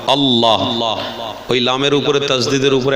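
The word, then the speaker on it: الله: যেমন আল লা দুবার উচ্চারণ হলো আলিফ লাম যবার আল লামের উপরে তজদিদ আসবে দুবার পড়তে হবে লাম আবার লাম আল্লাহ ওই লামের উপরে তাজদিদের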